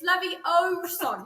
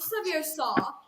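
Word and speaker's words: Leviosa: someone's eye out besides you're saying it wrong it's levi oh son not sevilla hey guys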